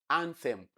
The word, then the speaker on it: anthem: Notice the way I pronounce it, anthem. So the sound you have there is a dental sound. It is not an alveolar sound. Alveolar is ta, like you have in toad. But that is not what you have there. The one you have there is what you have in both. So anthem, that is voiceless dental fricative.